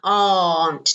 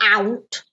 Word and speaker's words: aunt: is my foreign T notice it's a long time aren't not out aren't okay next one my